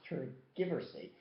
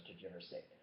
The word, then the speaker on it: tergiversate: Well, it's not pronounced tergiversate. It's pronounced tergiversate.